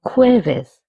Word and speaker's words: jueves: El jueves, Thursday. Notice that J's pronunciation is H.